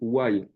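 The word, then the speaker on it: ויהי: En fait, la vraie prononciation, pour mieux comprendre ce Midrash, c'est why. Why, why, why.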